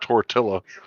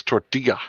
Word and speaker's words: tortilla: spell it what the in Spanish the two L's they make the Y sound so it's not tortilla it's tortilla right right oh my goodness